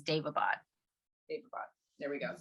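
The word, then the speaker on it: Daevabad: I'm doing an audiobook too, and that's how they pronounce it, is Davabad. There we go. Davabad trilogy, which this has been highly recommended.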